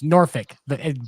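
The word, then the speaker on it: Norfolk: Hey, it's Norfick. Pretend the R is silent like at the end of the N word.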